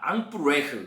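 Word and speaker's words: Emperaire: 앙뿌레르 이게 발음이 앙앙앙 그죠? 앙프레흐 그죠?이 황제랑 똑같다는 거예요.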